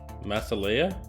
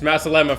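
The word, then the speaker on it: مع السلامة: say bye in arabic masala no what did you say that's the lemma masala masala it's masalema from now on to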